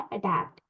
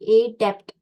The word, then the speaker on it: adept: और ये अडॉप्ट नहीं है, अडॉप्ट होता है ADOPT, जिसको भी हम अडेप्ट ऐसा प्रोनाउंस करते हैं। अडॉप्ट उसका रियल प्रोनाउंसिएशन है, जिसका मतलब होता है अपनाना। लेकिन ये वर्ड क्या है? अडेप्ट, ADEPT, एडेप्ट। जिसको जिसको ब्रेक करके बोलेंगे